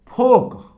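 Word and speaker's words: folk: फोक, ठीक, इसमें L silent है।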